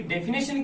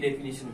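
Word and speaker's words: definition: डेफिनिशन, ये होती है डेफिनेशन की स्पेलिंग। कई बच्चों की डेफिनेशन बोलते हैं, नेशन, यहाँ पे ए लगा देते हैं, रॉन्ग है, ध्यान रखना।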